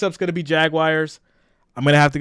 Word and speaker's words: Jaguar: So when we say Jaguar, it sounds like the word jag and then the word wire. So whenever I say that, I always get picked on. They're like, Jaguar. Like it's supposed to just flow out.